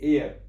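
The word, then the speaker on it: heir: और यहां भी एच जो है साइलेंट होता है और इसका साउंड होता है एयर की तरह, इसको बोलते हैं एयर।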